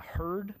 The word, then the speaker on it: hurd: talking about using the uh herd product it's spelled Hurd it's the Woody stock